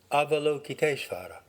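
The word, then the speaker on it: Avalokiteśvara: would be an approximate american english pronunciation avalokitesvara the name combines the verbal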